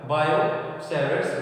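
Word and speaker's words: Biot–Savart: किसने एक्सप्लेन किया था, बायो-सैवर्ट्स लॉ, ठीक है, किसने, बायो-सैवर्ट्स ने, ठीक है। तो इस लॉ से हम क्या निकालेंगे, बायो-सैवर्ट्स लॉ। बायो की साइलेंट होता है, तो बायो एंड सैवर्ट्स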